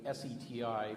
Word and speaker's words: SETI: for extraterrestrial intelligence that would be seti pronounced seti a large expensive collection